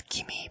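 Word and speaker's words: 君: Pronounced as kimi by itself, and it means you or buddy / pal.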